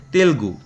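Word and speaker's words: Telugu: তেলেগু কোন রাজ্যের? এটা একচুি স্পেলিংটা ভুল আছে। মানে উচ্চারণটা আমরা ভুল করি। এটা এরকম হওয়া উচিত। এটা বানানো হওয়া উচিত। ঠিক আছে? তেলগু উচ্চারণটা তেলগু হওয়া উচিত।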